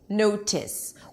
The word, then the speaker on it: notice: But in this situation, when the T is between two vowels and the syllable is not stressed, it's not the primary stress of the word, then the T changes to re. Notice, notice. You may say that it sounds like a D, but notice that it's